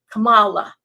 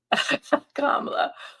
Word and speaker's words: Kamala: too you know how Donald Trump has been pronouncing her name with the accent on the wrong syllable he goes Kamala Kamala so apparently Kamala kamla or one of her